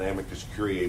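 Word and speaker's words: amicus curiae: The failure of the Justice Department to try to retry or file an Amicus Curier brief with the Heler Curier.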